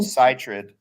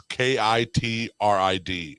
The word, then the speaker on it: chytrid: weird ass names like it looks like it would be called Chytrid. Yeah, that's what I thought, but I looked up the pronunciation. It's Kitrid is how they pronounce.